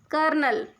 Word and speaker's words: colonel: col colel we write is colonal but we pronounce it as kernel in Canada in Hindi we pronounce kernel so